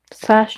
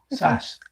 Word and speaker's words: Sass: two albums Asajj and I always think I'm saying her name wrong fast Jordan no SAS SAS yes sassy Jordan SAS she